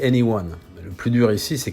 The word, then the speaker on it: e:Ny1: pour le moins malvenus il paraît que cela se prononce en réalité anyone le plus dur ici